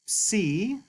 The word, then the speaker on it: psi: And the name, like I said, is psi, and it makes the PS sound, as in the English word apps, apps.